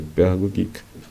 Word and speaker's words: Pädagogik: Pero en el caso de Pädagogik, como es una con umlaut, se pronuncia como una E de nuestro idioma, Pädagogik.